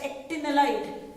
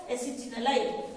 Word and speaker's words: acetanilide: N-phenylethanamide is also called as, some teachers call it as actinolide, some call it as acetanilide. Whichever way you want to pronounce, this is a very important compound.